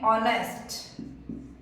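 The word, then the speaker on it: honest: दे रहा है हमें ऑनेस्ट यह साउंड किसकी दे रहा है ओके हा तो यहां साइलेंट है साउंड ओ की दे रहा है है ना तो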